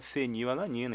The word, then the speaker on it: fenilalanina: com a letra P que antigamente p sinia f então este P vai ser aqui ó penil alanina se pronuncia fenilalanina então p foi Ok